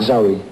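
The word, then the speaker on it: Zowie: Zoe.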